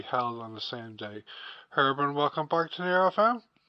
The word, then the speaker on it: Gerben: name please yeah yeah you pronounce it in the Dutch way as heran heran so long story my